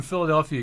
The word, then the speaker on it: Philadelphia: Philly Philadelphia Philadelphia philadelph if you're from Philadelphia you can say it in two syllables Philadelphia and uh I